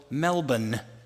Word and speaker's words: Melbourne: we headed to Melbourne which is pronounced I was told Melbourne a 4-Hour flight and